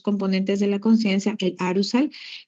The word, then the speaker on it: arousal: Los componentes del estado de conciencia son dos, que son el nivel de alerta, activan a arousal, A-R-O-U-S-A-L, arousal, que se pronuncia arousal.